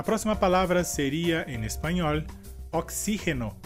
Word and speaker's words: oxígeno: A próxima palavra seria, em espanhol, oxígeno, e em português seria oxigênio. E a diferença seria que na palavra em espanhol a sílaba forte seria xi, e em português a sílaba forte seria g.